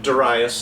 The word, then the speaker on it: Darius: how to pronounce that my two major bible encyclopedias they give a pronunciation of Duras and so i pronounce it that way and we need to